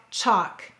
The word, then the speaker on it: chalk: we have the word walk talk chalk notice the l is silent however the l in